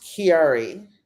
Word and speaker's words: Chiari: Is it Chiari or Chiari? I've never known that. She said it was pronounced Chiari. I've actually never known how to pronounce that word.